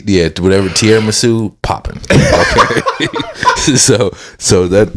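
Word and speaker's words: tiramisu: T what's it called did I say it wrong no you said it right T yeah whatever tiar masu popping okay so so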